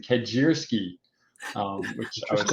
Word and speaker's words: Kedziora: try to pronounce it yes it is kedziora and and thank you for having me but what's really interesting a aside about the pronouncing my name the last meeting I was just having they used chat PT to figure out how to pronounce it it actually gave them the Polish pronunciation kajiri which I was like